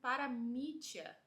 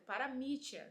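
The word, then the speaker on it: παραμυθία: Por último, a palavra traduzida no grego como consolação, nós pronunciamos ela como paramítia. Acho que tá certo, paramítia, né, a pronúncia.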